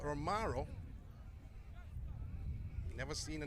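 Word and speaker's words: Romarro: That's Romaro Francis. Not Romario though, but Romaro.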